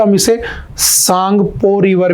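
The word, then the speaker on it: Tsangpo: तो T silent होता है तो हम इसे सांगपो रिवर भी कहते हैं।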